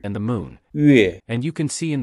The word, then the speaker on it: 月: The closest approximation to the pronunciation of 月, is the first syllable of Yukon, which is a Canadian territory located near Alaska.